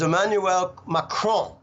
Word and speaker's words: Emmanuel Macron: out of 200 kids so the way you pronounce it is emmanuel macron okay macron won the rigged farcical corrupt election